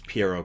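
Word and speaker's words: Pierrot: Uh, it's Pierro cuz it's clown.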